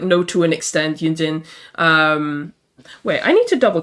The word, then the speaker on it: Yunjin: Okay, it is Yunjin.